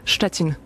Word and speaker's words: Szczecin: How do you pronounce the city? Szczecin. Szczecin.